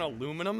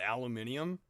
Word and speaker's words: aluminium: __ ] I have to agree with UK on aluminum though. What? Aluminium. We don't say titanum or or calum criticized pronunciation.